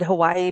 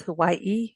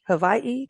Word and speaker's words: Hawaii: it's it's you know we've always said Hawaii but it's Hawaii Hawaii you know um and L